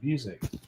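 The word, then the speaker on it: Busiek: It's got to be Busick, I would think. But no, he's the writer on this. Let me open it up. That's how I pronounce his name, Music. Yeah, here's the other one too. That's how he pronounces it.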